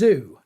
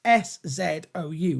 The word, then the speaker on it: Szou: I'm assuming it's Szou, but it's with a silent S. S-Z-O-U, Szou.